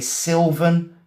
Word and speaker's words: sylvan: But what is a sylvan landscape? It's S Y L V A N. We say it sylvan, okay? Yeah, it looks like it should be spelled with an I, but it's not, okay?